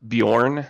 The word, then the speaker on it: Bjorn: And there's this guy named Bjorn, and it was Bjorn. But it's pronounced Bjorn.